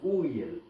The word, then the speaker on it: Uriel: au nord qui s'appelle ça s'écrit Uriel mais ça se prononce riel et ensuite il y